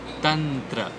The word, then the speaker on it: तंत्र: मं इट इज मंत्र और इवन तंत्र इट इज नॉट ं इट इज तंत्र इ य टेक लुक